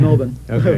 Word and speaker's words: Melbourne: you say Melbourne too yes I do it's Melbourne see now you're educ go right ahead as